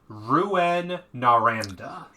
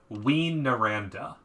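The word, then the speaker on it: Rouyn-Noranda: it is Rouen Noranda. Rouen Noranda. No. How do I move it? No. It would be. Oh, that's the American pronunciation. Apparently, the British pronunciation is Ween Noranda.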